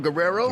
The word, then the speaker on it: Guerrero: Guerrero like the um Eddie Guerrero, the wrestler.